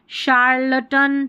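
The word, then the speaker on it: charlatan: शराड, ये है शार्लटन, ठीक है, शार्लटन। अब जैसे ये शेफ, शेफ की स्पेलिंग है ना, ये हमारे काम आने वाली है।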